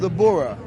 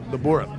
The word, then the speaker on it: Bura: It's called The Bura. The Bura. That's spelled B-U-R-A.